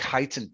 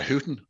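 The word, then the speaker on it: Huyton: But the Irish narrator, I sent a list of, you know, phonetic spellings, like places like Highton in Liverpool. He pronounced it. And so Tommy went to Hooton.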